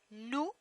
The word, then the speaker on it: nous: Nous, nous, O-U, nous, like my name.